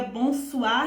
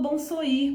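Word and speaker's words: bonsoir: Porque se pronuncia bom soar e você falou bom soir porque você ainda não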